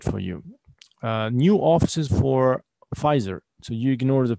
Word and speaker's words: Pfizer: Okay, the P is silent. You don't pronounce the P here. Don't pronounce the P. Right, Pfizer. In 2005, the Czech branch of the pharmaceutical company, Pfizer, so pharmaceutical means Sharkat